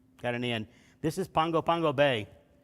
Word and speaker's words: Pago Pago: i said no no no brother that's called pago pago yeah we were both wrong um but i was i was less wrong so there's that it's pronounced pongo pango when there's a g they they add an